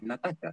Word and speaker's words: Nastassja: Bueno, decir varias cosas gracias, Natasha, perdón, es Natasha, se pronuncia. Bueno, gracias, Natasha, por la pregunta y por el comentario.